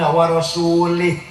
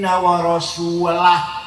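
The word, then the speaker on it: ورسوله: Innallaha bari'um minal musyrikin wa rasulih. Salah. Allah tidak melindungi orang musyrik dan tidak melindungi Rasulnya. Salah. Bacanya harus innallaha bari'um minal musyrikin wa rasulah. Jangan wa rasulih.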